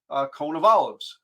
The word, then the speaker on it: Konovalov: it up but uh the phonetic spelling is uh cone of Olives so conol singular close